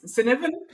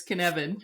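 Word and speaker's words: Cynefin: right yeah it's it it looks like it's Copan but it's copen but it's Canan is how you say it and it's a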